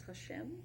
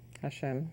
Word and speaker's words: Hashem: It's Hashem. Hashem. Hashem. So I pronounced that right too.